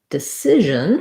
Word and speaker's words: decision: and the vowel correct the same thing happens in decision where we have this the second syllable again is stressed this time instead of the letters ci saying uh the psi sound decide um we have uh an if sound in our stressed syllable so it's more like sid like is as in scissors for example or sister um so i'll write it